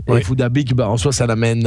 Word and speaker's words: Phuc Dat Bich: si il s'appelle réellement F that Beach puisque c'est comme ça que nous on le prononce à l'européenne il faut savoir que étant donné ses origines ça devrait se prononcer foodabic et foodabic bah en soit ça